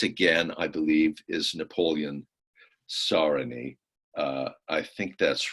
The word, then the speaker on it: Sarony: By the way, it's pronounced Sarony, Napoleon Sarony.